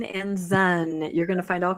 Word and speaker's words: Ensign: of the membership would actually know how to pronounce the name of the magazine correctly. Enzyme Enzen.